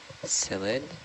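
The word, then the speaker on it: Psolidae: of solid C cucumbers solid solid p s o l i d a e I would have never expected the P yeah the silent p oh there's a big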